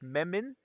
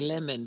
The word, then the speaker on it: Memon: Memon. Yes. Memon. Okay. Good. Good. Like a lemon, but Memon. Lemon. No, no, Memon.